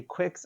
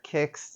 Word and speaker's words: Qix: It's a Quicks or a Kicks, just depending upon how you choose to pronounce it. I've always called it Quicks.